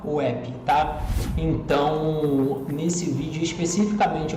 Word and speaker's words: WebP: Se escreve WEB, se fala WEP, tá?